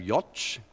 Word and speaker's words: Jocz: his name was Jacob Jocz, and it's J-O-C-Z. How do you pronounce it? It rhymes with Scotch, okay? So that's how I was told by his son to remember it.